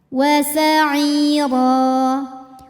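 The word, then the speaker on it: وَسَعِيرًا: Ro dibunyikan secara tafkhim karena harokatnya di atas, maka bacanya tebal. Ro apabila berhenti ada mad namanya mad iwad karena ada harokat tanwin fathah yang diberhentikan. Cara bacanya panjang 2 harokat tanpa huruf n.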